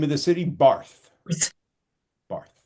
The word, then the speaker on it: Barth: Barth. Barth. The Germans pronounce it Bart.